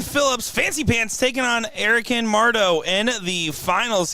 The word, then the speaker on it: Erica: It's Erica, not Erica.